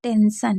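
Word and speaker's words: tension: लेकिन टी को हम ट नहीं पढ़ेंगे। श पढ़ेंगे। क्योंकि टी आई ओ एन होगा तो उसे भी शा ही पढ़ा जाएगा। ठीक है? तो क्या हो जाएगा? टेंशन।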